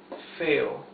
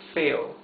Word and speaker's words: feo: Lo más feo, the most ugly of all, or the ugliest of all, okay? Lo más feo. Feo, 2 syllables. Feo, feo.